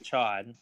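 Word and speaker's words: Ch'od: With Cyclops Dad and Chode or Cyclops whatever his name is.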